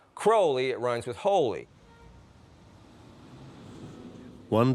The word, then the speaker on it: Crowley: Crowley in his own writings he said it's pronounced crowly it runs with Holy One Day in Cairo